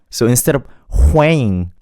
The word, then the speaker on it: Hwang: Hwang, just don't make the W sound too strong.